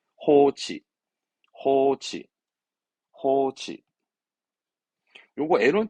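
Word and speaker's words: 放置: 발음은 호치, 호치, 호치.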